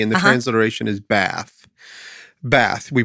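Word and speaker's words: בת: it's H1 323 and the translation is Bath bath we pronounce it bath that's the word and it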